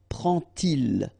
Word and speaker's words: prend-il: to show you that you won't pronounce it like d to make the liaison, but you will pronounce it like t. And so you will get prend-il, okay?